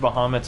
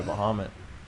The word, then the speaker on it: Bahamut: That was a solid overkill by Bahamut. Yeah. Or Bahamut. Because that's Bahamut. apparently how it's supposed to be pronounced.